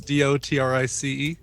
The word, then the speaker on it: Dotrice: Roy Dotrice. Roy, what'd you say? Roy G. Biv. No. Roy Dotrice, Dotrice. Yeah, like Dot Rice.